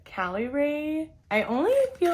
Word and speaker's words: Caliray: january 20th i believe how you pronounce this is cali ray i only feel like